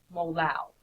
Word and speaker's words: molal: Okay, so you put the symbol there, and it is pronounced molal.